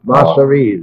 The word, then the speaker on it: Masseria: Masseria's, that's the way you pronounce it.